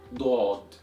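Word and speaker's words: ضاد: So in here, we need to know how to pronounce both Dal and Daad properly, because as you saw, one letter changes the entire meaning of the word. So one more time, it's Dal, Daad, Dal, Daad, Dal, Daad, Dal, Daad,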